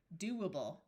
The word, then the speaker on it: doable: This O has the third sound of O, which is oo. So do, doable.